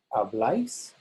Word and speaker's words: habláis: In the nosotros and vosotros, the bla is stressed. Hablamos, habláis, and then back to the a.